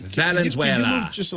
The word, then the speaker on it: Valenzuela: Venezuela. Venezuela. Did I not say it right? Should I just, can I just leave Valenzuela. Valenzuela.